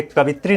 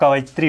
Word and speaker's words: कवयित्री: देखिए, कवित्री हम उच्चारण तो कर लेते हैं ऐसे, लेकिन ये कवित्री नहीं होता है, कवयित्री होता है।